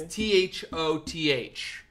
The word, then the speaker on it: Thoth: Is that thought without a T? Maybe I'm pronouncing it wrong. It's Thoth is the way they say this god.